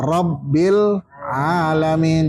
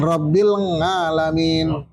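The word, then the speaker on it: رب العالمين: Fauqal ba Rabbil alamin. Jangan Rabbil ngalamin. Nah, Rabbil alamin. itu makhrajnya salah. Rabbil alamin. Rabbil alamin. Iya. Rob gini dulu, Rob. Itu tekan dulu, Rabbil alamin. Jadi bacanya harus tegas itu.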